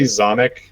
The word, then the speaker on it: Xomikbu: So like we just say Zomic.